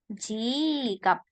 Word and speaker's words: 지갑: Jikap. Jikap. P-nya ya, bukan pakai B. Jadi jikap.